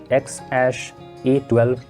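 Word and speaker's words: X Æ A-12: Well, it's pronounced as XAsh-A12 Musk.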